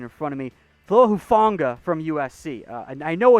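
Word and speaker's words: Hufanga: have my pronunciation in front of me flo hufonga from usc uh i know it's pronounced tafonga but i always forget the first name there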